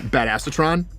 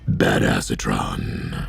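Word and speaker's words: Badassatron: right now is um bad asatron which is actually pronounced bad acetron um we're going to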